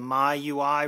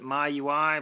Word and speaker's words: MIUI: new release of the my UI ROM for the Samsung Infuse 4G that is the Mi UI ROM not sure if you pronounce it my UI but that's how I pronounce it so let's go ahead